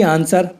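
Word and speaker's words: answer: की हिंदी है लेखक ऐसे ही आंसर और शॉर्ट में डब्लू साइलेंट है क्योंकि एस के बाद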